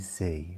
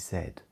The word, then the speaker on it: Z: in England is JZ we don't use Z we use Zed so the alphabets are